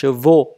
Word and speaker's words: chevaux: cái bài trước đó, les cheveux, đọc hình âm thanh là ơ, còn les chevaux, âm thanh là ô, nó khác nhau như vậy.